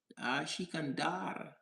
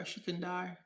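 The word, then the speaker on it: Sikandar: Shikan, Shikandar. That's how you say it, bro. Shikandar.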